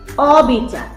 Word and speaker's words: অবিচার: অ এর মত হবে যেমন অবিচার অবিচারে ঠোঁট ফাঁকা হয়ে যাচ্ছে সেক্ষেত্রে আমরা ও টাকে